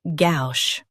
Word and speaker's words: gauche: Say gauche with a soft sh at the end.